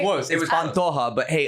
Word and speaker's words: Pantoja: Please welcome Ben Giroux and Pantoja. Hey! Did I You get were it so right? close. It was Pantoja, but hey, Pantoja.